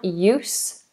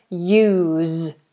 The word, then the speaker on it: use: is a verb um the noun use use with an S and the verb use use I can't use it it is useless I can't use it it is usless so noun is s verb is Zed oh someone else has